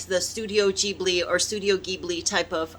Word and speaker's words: Ghibli: um something like um studio ghibli i believe it's pronounced or ghibli studio ghibli i love those movies